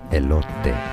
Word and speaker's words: elote: Elote. Elote. Oh, I love the way he pronounces it.